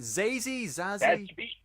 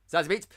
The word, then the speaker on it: Zazie Beetz: How do you pronounce it? Zazie Beetz. Zazie Beetz.